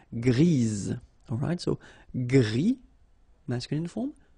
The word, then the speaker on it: grise: Gris, don't pronounce the S, but then for the feminine form, grise. Remember?